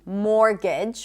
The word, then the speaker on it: mortgage: More words with silent T. Mortgage. We don't say mortgage, right? Mortgage. Also the word rapport.